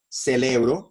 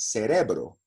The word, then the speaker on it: cerebro: so example misuk an example when we say cell arrow and not cerebro yeah when we say Mercier gallo and not Murcielago when we say for